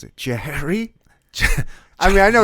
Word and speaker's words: Jehry: do you pronounce it Jeri I mean I know it's Jerry but it's like Jeri yeah like J uh yeah what's up with that just pron it's just pronounced Jerry man but uh yeah